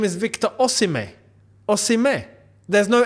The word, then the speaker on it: Osimhen: that back and say his name isn't Victor oen no it's Victor oim o as John Obi Mel did clarify on his podcast if you know you